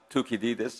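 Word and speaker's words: Θουκυδίδης: Athenian historian Thucydides, pronounced Thukydides in Greek, he said, when a rising power threatens to displace a ruling power, a war or conflict will naturally occur.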